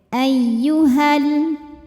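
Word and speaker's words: يا أيها: Jika berhenti di ha, hukumnya adalah mad tabi'i karena ada alif didahului fathah. Panjang 2 harokat bacanya apabila berhenti. Namun jika wasal atau kita meneruskan bacaan, hanya ini jadi pendek. Ayyuhal.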